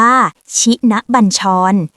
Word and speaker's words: ชินบัญชร: บท สวด ชินบัญชร อ่าน ว่า ชินบัญชร เป็น บท สวด มนต์